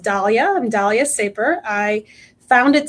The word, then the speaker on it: Daliah: So, um my name is pronounced Dalia.